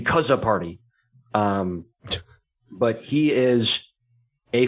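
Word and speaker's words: Czapary: all the issues salah sapari is i think his actual name speaking of funny names salla soppery i think that's how it's pronounced c-z-a-p-a-r-y it could be kaza party um but he is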